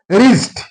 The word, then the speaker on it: wrist: Wrist. This is wrist. Wrist means wrist is W is followed by R. That's why here W is silent.